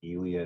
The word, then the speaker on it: Ely: which was 45 minutes away from us called elely Nevada it's it's spelled e ly but it's pronounced elely I think that's word anyways population like what